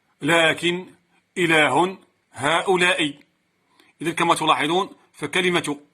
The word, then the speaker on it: إله: إله. إذن هي من الكلمات الشاذة التي تحذف ألفها كتابة أي رسما وتثبت نطقا.